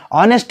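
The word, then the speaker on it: honest: लेकिन जब इसका उच्चारण हो रहा है ऑनेस्ट हो रहा है। कैसे हो रहा है? ऑनेस्ट। ऑनेस्ट जो है अ से हो रहा है और ये अ जो है हिंदी का स्वर है।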